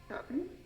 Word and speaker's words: shopping: Shopping? It's like shopping or like shopping. Tienes que hacer como tu boca de O, pero dices la A.